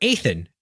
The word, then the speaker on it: Ethan: She continues, just heard back from our founder, Ethan. It's pronounced like Nathan without the N.